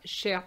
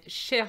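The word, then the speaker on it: chère: say dear okay so cher paul and cher sophie same pronunciation but different spelling as you can see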